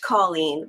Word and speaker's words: Coleen: There's a lady at the Plasma Donation Center where I go that works there, and her name is pronounced Coleen, but it's spelled like mine with one L.